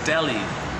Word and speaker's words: Deli: Rysdyk, Deli D-E-L, Deli. She sounds like Dolly, I kid you not.